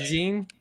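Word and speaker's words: Medellín: Is that the correct way to pronounce it? Very correct. Medellin.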